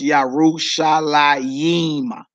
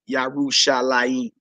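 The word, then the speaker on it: Yerushalayim: her they look that LeMay and men both words are pronounced the same so that last Jerusalem's you you see as pronounced yeah Ruth shall I Emma Yima so whether you see the yo in between the middle two men or not you should pronounce it yahoo shall I eat all right everybody understand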